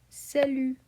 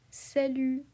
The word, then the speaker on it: salut: Same in salut, we drop the T. Okay? We drop the T. We say salut, salut.